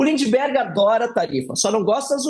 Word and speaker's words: Lindbergh: Peço perdão pela pronúncia errada, viu, deputado? Falei Lindenberg. Nada. Lindbergh Farias.